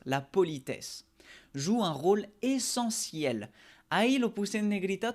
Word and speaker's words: essentiel: La politesse joue un rôle essentiel. Ahí lo puse en negrita, tú sabes muy bien que significa esencial, pero la pronunciación, la T no suena T, sino S, como una S.